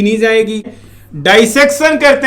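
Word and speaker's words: dissection: ऐसे ही तो की नहीं जाएगी, डाइसेक्शन करते हैं। प्रोनाउंसिएशन देखिएगा दोस्तों, डिसेक्शन भी बोलते हैं लोग, प्रॉपर प्रोनाउंसिएशन है डाइसेक्शन।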